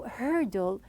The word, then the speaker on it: hurdle: word hurdle now when I pronounced it at the very beginning and I said it is like a heavy word because the r is a heavy sound so hurdle some people they face